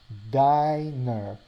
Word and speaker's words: diner: Now, so the missing N makes the I sound like I, while ner follows the alphabet rules. So you have diner.